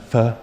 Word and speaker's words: pho: And they'll be like, "You know, Russell, it's actually pronounced fuh."